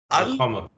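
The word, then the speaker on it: القمر: And when there is alif, ba, jim, ha, ain, ghain, fa, qaf, kaf, mim, wa, ha, ya, then you will pronounce. For example, Al-Qamar. al-qamar. Yeah. Al-qamar. Here, yes, you will do it.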